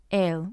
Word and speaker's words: él: The pronoun has the accent, the article doesn't, but they sound exactly the same.